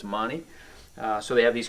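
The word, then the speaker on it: Magni: a g ni I you don't pronounce a g I guess in Italy so it's Moni uh so they have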